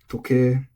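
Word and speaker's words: 時計: Toke, also flat.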